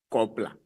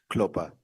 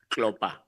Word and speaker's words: Klopper: Honorable Kopla. Am I pronouncing it properly? Klopper. Klopper.